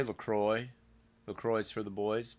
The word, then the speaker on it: LaCroix: It's definitely LaCroix. How do you say it? Do you say, I like to say LaCroix.